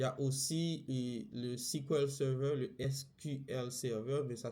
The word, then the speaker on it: SQL Server: comme la fintech il y a aussi le sequel Server le SQL Server mais ça se prononce squel serveur il y a aussi le MySQL la plupart